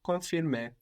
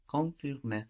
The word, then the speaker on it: confirmer: And we don't, again, really hear that N, no? Confirmer. Confirmer. I think you drive too much in the it's, N. It's too better. So just think it, but don't pronounce it.